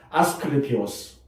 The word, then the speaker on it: 아스클레피오스: 아스클레피오스. 발음하기 힘들죠?